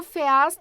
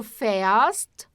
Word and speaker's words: fährst: Nós agora estamos usando um A tremado. Que é, quando a gente pronuncia como um E, né? Du fährst zur Stadt.